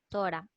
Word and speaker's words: Torá: La pronunciación es la Torá o la ley de Moisés, ¿sí?